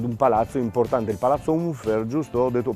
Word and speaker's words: Unfer: un museo, ad un palazzo importante, il Palazzo Unfer, giusto? Ho detto, pronunciato giusto?